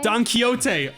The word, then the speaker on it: Don Quixote: Don Quixote.